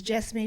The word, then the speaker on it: Jessamy: his mom, and he goes, "Mom, this is Jessamy." She goes, "?"